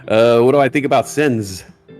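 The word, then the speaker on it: Senseonics: What do I think about Sensonics? I think I've been pronouncing it wrong for the past few months. I was calling it Sensonomics.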